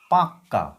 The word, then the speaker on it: পাক্কা: বুঝাতে পেরেছি এরপরে লিখবো পাক্কা প আকারে পা ক নিচে ক আকার পাক্কা উচ্চারণটা কিরকম প আকারে পা কয় হসন্ত ক আকার অর্থাৎ কিনা পাক্কা পাক্কা কটা কম উচ্চারিত হচ্ছে উপরের যে কটা উপরের